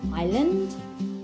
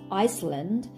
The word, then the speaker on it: island: trouble spelling the word island I s L a and D island it's not Iceland its Island just remember that an island not Iceland and Island is land